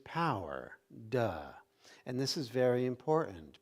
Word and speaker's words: Te: You have Tao, you have De, which is spelled T-E, but it's pronounced De, and then Jing, and